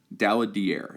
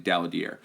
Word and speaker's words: Daladier: Daladier is how you say his name, Daladier.